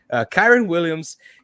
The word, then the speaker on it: Kyren Williams: Kyren Williams.